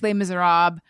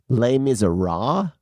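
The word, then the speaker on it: Les Misérables: they just leave all they just leave all that at the end off of it they're like but that's not how French people pronounce it no I I'm just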